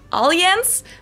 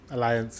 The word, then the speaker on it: Allianz: Most Americans call it Allianz, but the correct German... We would say Allianz. Allianz? Allianz? Alliance in England, I think. Most people say that. Pronunciation is Allianz, and the Allianz Arena is Allianz Arena in German.